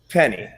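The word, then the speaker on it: Fpenny: we speak my name you can call me penny the f is silent penny silent just penny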